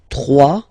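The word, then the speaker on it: trois: 3. Final S not pronounced.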